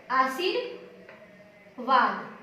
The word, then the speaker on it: आशीर्वाद: तो एक बात ध्यान देंगे कि जब भी आधा र होता है तो उसका उच्चारण पहले होता है, लेकिन जो वर्ण लगते हैं वो उसके बाद लगते हैं।